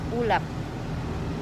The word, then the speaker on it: Ulap: Pero pag kasi sa Kabampangan, mas ma- hard yung pagkakabigkas. Ulap.